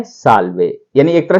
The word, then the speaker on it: salve: SALVE, और इसको लिखेंगे सा आधा ले वे, साल्वे।